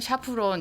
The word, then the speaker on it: 샤프란: 샤프란이라고 알고 있는데 알아보여서 샤프린 샤프란 샤프론 이렇게 발음이 여러 가지가 있어요 우리는 그냥 샤프란이라고 불렀었고